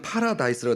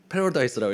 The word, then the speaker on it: 파라다이스: 미국에 와서 원고에는 파라다이스라고 되어 있는데 오늘은 패러다이스라고 읽어야 될 것 같습니다.